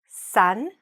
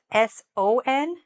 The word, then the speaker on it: son: it's written it's spelled s o n, there's actually no difference between the pronunciation of this word and the word sun, you know, the sun in the sky.